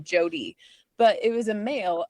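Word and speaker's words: Jote: but it looks like Jot. Yeah, a lot of my readers like who's Jot? I'm like it's actually pronounced Jodie. And normally you would see it as J O D Y, but because it was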